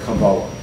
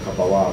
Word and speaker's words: Kabbalah: 30 years ago, how many people in the world ever heard the word Kabbalah, or Kabbalah, whichever way you want to pronounce it?